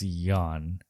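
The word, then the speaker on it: Yeun: yon or young well it's it's spelled Yuan like y-e-u-n yeah but I've watched interviews with him and Conan he seems to be on Conan a lot and he said that Conan was saying his name wrong for like eight years apparently it's yawn okay yeah so he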